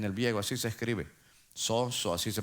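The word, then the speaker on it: σώζω: En el viego, así se escribe, soso, así se pronuncia.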